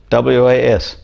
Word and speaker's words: was: and he said, well, some words are sight words. That means you have no idea how they're pronounced. You just have to you just have to be told. And the sight word that he mentioned at the time was like W-A-S, was. No, you just have to know that that's how it's pronounced.